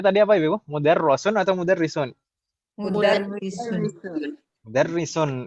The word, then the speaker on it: mudarrisun: Mudarrisun atau mudarrisun? Mudarrisun. Mudarrisun. Ini kasrah ya, bukan fathah. Iya, di bawah tasdid.